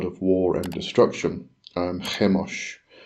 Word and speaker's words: Chemosh: and destruction um hos I'm sure some people probably pronounce this chos um but considering that's kind of a Semitic um or has Semitic um Origins I'm going to rather go with the pronun pronunciation if I can even say that word of hos but anyway so I'm